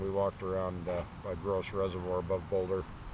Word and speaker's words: Gross Reservoir: the mountains and we walked around uh by gross reservoir above boulder it's grss grass reservoir but it's pronounced gross gorgeous clear water high mountain reservoir with no